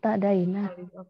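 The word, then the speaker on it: اعتدينا: Oh, bacanya ya tadaina. Depannya kan alif wasol. Tadaina. Iya, tadaina. Iya, tadaina. Oh, saya salah dengar. Ini hamzah wasol, Bunda ya.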